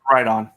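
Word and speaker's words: Riton: Ron how do you pronounce it WR on or right on WR on right it's right on what do they have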